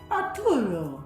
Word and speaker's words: Arturo: trying to say, but he wanted to actually say it like that, Arturo, because that's how they said it in the movie, and that was just one of those characters we really liked.